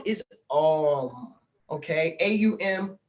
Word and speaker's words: Om: is all on okay a-u-m is how it should sound though it's spelled o m um um and then Focus